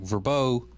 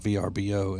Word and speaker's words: VRBO: Airbnb or uh a as it's pronounced like verbo um is is pronounced that and not VRBO and so is aan